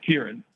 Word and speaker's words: Kieran: Kieran. Kieran. Yeah. Like the recent Oscar winner Kieran.